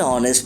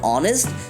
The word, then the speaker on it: honest: An honest person. An FBI agent. An MP. In hourly and honest, the letter H is silent and the first sound that comes is A and O, which are vowel sounds.